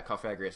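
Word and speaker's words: Cofagrigus: Yeah, Cofagrius.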